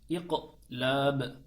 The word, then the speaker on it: iklab: harfi gelirse ne olur İklap diyoruz asıl okunuşu iklab iklab demek yani kalp etmek kalp